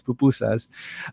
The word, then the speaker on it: pupusas: pupusas and they're asking by the way it's pupusas i've heard it pronounced many different ways recently uh but it's bupu says uh and and they're